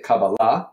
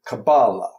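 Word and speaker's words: kabbalah: syllable so we say cabala okay and Yiddish is penultimate cabala okay so therefore there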